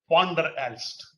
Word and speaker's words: Van der Aalst: Van der Aalst. V is pronounced as Fa.